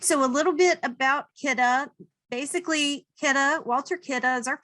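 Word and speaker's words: Kidde: How is this pronounced? It is Kidda. It is not Kidday. It is not kid or kiddie.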